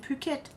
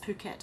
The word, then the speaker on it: Phuket: shops now in Phuket.